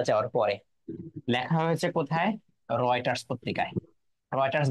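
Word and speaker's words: Reuters: তারপরেও REU হচ্ছে উচ্চারণ কি হচ্ছে? রয়।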